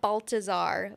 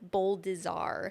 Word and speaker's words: Baldassar: Last name, not Baltazar, Boldizar. Okay.